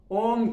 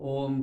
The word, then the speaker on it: ओम: ओम शब्द या ओम का जब हम उच्चारण करते हैं, ये 3 वर्ण को लेकर के बना है। अ, उ, म। अ, अ उ म, ये बना ओम।